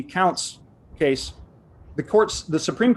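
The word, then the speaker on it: Kountze: court in matthews v i'm going to pronounce it counts k-o-u-n-t-z-e-i-s-d um the burden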